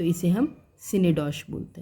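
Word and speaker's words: synecdoche: अब हम पढ़ेंगे सीनडॉश, सिनेडॉक, साइनेडॉक, लेकिन फोनेटिक्स के अकॉर्डिंग इसे बोलते हैं सीनडॉश।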